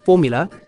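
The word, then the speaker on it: Fuvahmulah: dive site it's called formula um spelled fuvermuller but it's pronounced formula it's one of the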